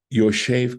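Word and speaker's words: ישב: Yoshev Ketiv. It says Yashav. It's written as Yashav, but we pronounce it as Yoshev.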